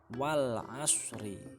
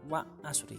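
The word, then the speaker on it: والعصر: Contohnya ya ini wal asri dibaca wal asri, bukan wa asri tapi wal, ada alnya dibaca wal asri.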